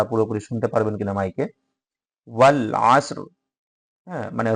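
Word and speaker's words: والعصر: শুনতে পারবেন কিনা মাইকে ওয়াল আসর মানে রটা আমরা উচ্চারণ করব কিন্তু র এর সাথে কোন পরিবর্তন ঘটাবো না আসর আসরি আসর এরকম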